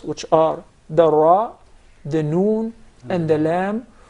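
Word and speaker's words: ر: You make sure that there is a slight striking, or the tip of the tongue would hit the gum to be pronounced properly without rolling or the repetition of the ra.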